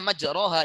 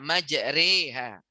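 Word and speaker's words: مجريها: begini Hai anda sekalian kalau kamu baca majroha itu enggak boleh menurut Imam qiroat Nyai Mama asik maka bacanya satu menurut Imam ashim dari murid beliau itu Imam hafs harus dibaca majreha Maka apakah ada atau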